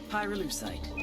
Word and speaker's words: Pyrolucite: Pyrolucite, key syllable pyro, by the way, is the they mine in Via Verde Province to turn cocoa leaves into highquality cocaine.